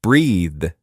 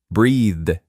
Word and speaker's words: breathe: But breathe is a verb. It's the action of taking air in and out pronounced with a voiced th sound. Breathe. Breathe. Like in mother, father breathed.